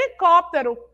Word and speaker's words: helicóptero: era ele né H mas quando eu pronuncio a palavra Olha só quando eu falo ela helicóptero h não tem não é H licoptero não é helicóptero Pois é vamos aprender